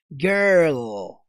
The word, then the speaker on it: girl: olha só que interessante o primeiro som que você vai fazer é o som do R Gear E aí no final da palavra você vai colocar o som do L girl girl girl exercita comigo